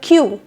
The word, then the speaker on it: queue: next one number three to pronounce this word correctly we have to pronounce only first letter of the word that is letter q so the correct pronunciation of this word is Q drop other letters there was a long